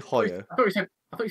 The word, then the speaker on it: Hoyo: George, you know you pronounced that wrong. We've literally done a video on that cigar. Have I done it wrong? Yeah. Well, Hoyo. We've done a video on that cigar. I said Hoyo, didn't I?